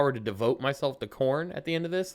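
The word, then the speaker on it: Khorne: Google it why is corn called corn it's spelled k h o r n e just so you know why is corn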